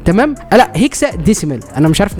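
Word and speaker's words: hexadecimal: وبعد كده هتروح على الريجستري، هتدوس دبل كليك وبعد كده تتاكد ان هي على هيكسا ديميكال. تمام. لا، هيكسا ديسيمال، انا مش عارف نطقها لي كده.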